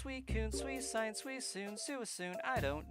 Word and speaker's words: Suicune: So I think regardless of how Pokédex says to pronounce it or the anime it's uh Suicune. I think that would be like the more logical pronunciation of it.